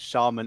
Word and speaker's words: shaman: We apparently have some people who weren't taught British English in the chat, as it is pronounced shaman in British English and shaman in American English.